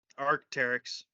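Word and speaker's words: Arc'teryx: Arceterix? Arcteryx.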